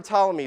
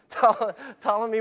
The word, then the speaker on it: Ptolemy: For those of you that don't remember Ptolemy, the P is silent. Ptolemy was a 2nd century astrologer who believed that the earth was the center of the universe.